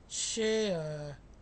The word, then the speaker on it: share: R E in the final of the word takes the sound So it is a, share.